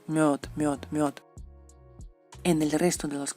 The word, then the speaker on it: мёд: Por ejemplo, en español, la miel, y en ruso es мёд. Es como bird, pero мёд.